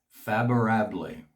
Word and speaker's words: favorable: Favorable, favorable. The V in Spanish is pronounced as a B, and once again it's ble because the E at the end is not silent, it's pronounced as an A.